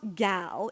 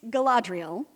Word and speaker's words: Galadriel: place I said and it is not gaol it has never been gal it's Galadriel the name wasn't my idea